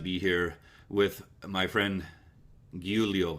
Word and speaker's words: Giulio: Giulio. Okay, Giulio.